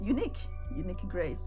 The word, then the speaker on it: Uniekgrace: So it's uniek, actually, Uniekgrace. But of course, I'm English speaking, so it's Uniekgrace, but spelled differently like that.